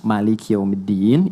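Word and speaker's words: مالك يوم الدين: Jadi kalau teman-teman pernah dengar Maliki yaumiddin itu bisa dibaca dengan dua cara. Ini informasi saja. bisa maknya pendek bisa panjang.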